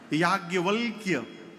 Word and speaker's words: याज्ञवल्क्य: शुद्ध लिखने जाइए यदि हिंदी में तो य में आ की मात्रा या, ज्ञ, व, आधा ल, आधा क और य। शुद्ध उच्चारण करिए तो जिभ्ये टेढ़ हो जाएगी। याज्ञवल्क्य।